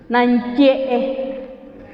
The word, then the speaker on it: nanye: Cuando decimos nan, hasta ahí tenemos las fosas nasales abiertas. Nan, cuando decimos ye, cerramos las fosas nasales para que únicamente salga como diríamos sequito. Nan, ye.